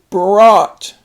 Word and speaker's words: brought: Next one is brought. He brought a new backpack to school. The GH is silent, but you have to spell it.